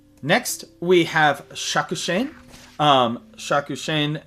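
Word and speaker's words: Shakushain: Um Shakushen that is uh how you pronounce it in English or Shakushin. And then uh in uh native pronunciation it would be Shaku Shan.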